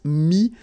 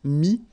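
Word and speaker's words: mis: Mi, same advice here, don't pronounce the final S like we had here. T is not pronounced, S is not pronounced. Mi, mettre, to put.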